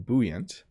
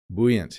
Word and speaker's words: buoyant: I'm saying buoyant. Let's check if there's another pronunciation. Buoyant, yeah.